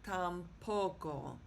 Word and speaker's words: tampoco: Therefore, the word is pronounced tampoco. Okay? Not tampoco, but tampoco. And you can sort of hear that punch on that first O.